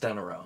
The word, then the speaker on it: De Niro: It's pronounced De Niro. It's not De Niro. It's two words.